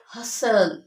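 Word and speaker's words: hustle: एस टी एल E they gut टी S silent letter for example कसल हल हसल हसल विसल विसल पसल पसल okay this all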